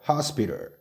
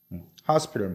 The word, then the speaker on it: hospital: 그래서 hospital이라고 발음할게요. 자, hospital. hospital 뭐죠?